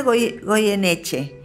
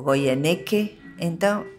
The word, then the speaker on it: Goyeneche: Es Goyeneche. Pero no lo hice por liviandad, sino que resulta que en Brasil no pueden pronunciar Goyeneche. Ellos me decían Goyeneche o Goyeneque.